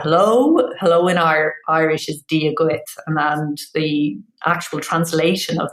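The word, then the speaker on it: Dia duit: So yeah, dia gut is how you say hello, and gurev mahagut is how you say thank you.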